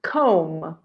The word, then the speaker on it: comb: first one scissors comb notice the B is silent comb here Diary towel hair